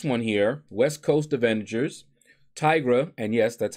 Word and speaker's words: Tigra: so the first one here west coast avengers Tigra and yes that's how you pronounce her name Tigra opponents have a minus eighty percent purify ability